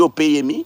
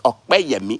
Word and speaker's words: Opeyemi: You people don't pronounce it Opeyemi. Is it Opeyemi? No, it's Okpeyemi. Is there a K there? No.